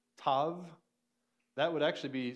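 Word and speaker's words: tau: they would pronounce it Tav it's kind of like the word even though we have a v to help it out mauve the color mauve that's kind of how it sounds there are some circumstances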